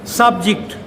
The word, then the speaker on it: subject: When this is disyllabic, subject. Now this is noun here. So this is stress is on the first syllable. Subject. Physics is an interesting subject. We pronounce it as subject.